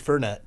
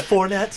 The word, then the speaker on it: Fournette: Actually, Brad, your pronunciation of the Jacksonville running back leads me to think of a great new cocktail, the Leonard Fernet. Nice. Yeah, that'd be awesome. I think it's Fournette. Fournette.